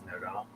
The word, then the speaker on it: NoDa: Noda. It's called Noda. Okay, you can say it right. It's not North Davison. It's Noda. It's Noda.